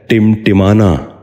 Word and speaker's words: ٹمٹمانا: ٹکور۔ دوسرا لفظ ہے ٹمٹمانا۔ یہ غلط تلفظ ہے، درست تلفظ ہے ٹمٹمانا۔ دوبارہ سنیے، ٹمٹمانا۔ بچوں